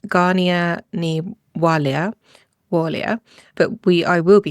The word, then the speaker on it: Gráinne Ní Mháille: Yeah, so her Irish name, my understanding is it's pronounced Gráinne Ní Mháille, but I will be saying Grace O'Malley because I can pronounce that respectfully.